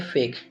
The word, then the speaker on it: fake: ई जो हमारा होता है लास्ट में वो साइलेंट रहेगा।